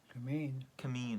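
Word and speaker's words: Kymmene: How do you pronounce that? Cameen, okay.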